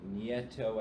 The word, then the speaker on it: Nieto: Epps, you were there too, where Professor Nieto, I think his name was. Yeah. Nito. I like pronouncing it that way. Nito. It's Nito.